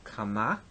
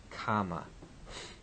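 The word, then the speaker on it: קמה: The participle has an accent on the second syllable, kama, where the affix has it on the first syllable, kama. Note here the shift of the accent.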